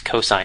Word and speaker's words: cos: a function called cosine this we abbreviate cos but we still pronounce it as cosine of a cosine of